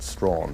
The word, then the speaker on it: Strachan: although he's a rather anglicized Scot so he pronounces it strong okay as an historian I think he said